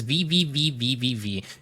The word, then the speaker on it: VVVVVV: So, the most fun way to pronounce this game is VVVVVV. If you want the shorthand, though, you can call it V or just V6.